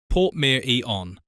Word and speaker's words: Portmeirion: Pronounced Portmeirion.